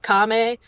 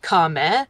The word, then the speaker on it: Kame: want to pronounce it Kame. It's like Kame, so it's like the word comet without the T at the end.